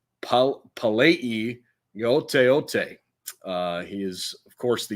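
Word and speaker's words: Palaie Gaoteote: we're still learning, but I believe it is pronounced Palei Yoteote.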